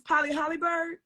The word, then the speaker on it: Polly Hollybird: How do I pronounce her name? Miss Polly Hollybird? Yes, I was told that's right.